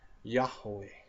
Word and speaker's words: Yahweh: Yahweh. I think that's how you pronounce it correctly. And what I'm meaning is, how they say Yahweh, whatever. It's Yahweh. I guess that is the proper way of saying it.